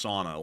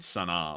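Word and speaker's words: Sanaa: It's sauna, like a sauna, you know, like a bath. Yeah. More so than Sana, like what we were saying originally.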